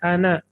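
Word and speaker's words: أنا: और उसके बाद दो मुतकल्लिम की अना, ये लिखा जाता है अना लेकिन पढ़ा जाता है अना, अलिफ नहीं पढ़ा जाता, ये अलिफ साइलेंट होता है, अना।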